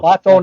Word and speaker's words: Platon: Platon is the right way to say it.